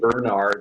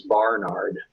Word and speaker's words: Barnard: I pronounce it Bernard, and it's Barnard.